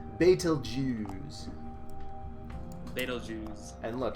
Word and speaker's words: Betelgeuse: Ryan okay now it's if you say it correctly its fatal Jews they don't use and